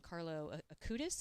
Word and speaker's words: Carlo Acutis: Carlo Acutis.